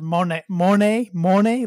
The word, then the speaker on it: Moné: So a lot of people thought Mercedes Moné, or she actually wants it to be pronounced Monet, like money, but Monet, but Monet, I don't know, whatever.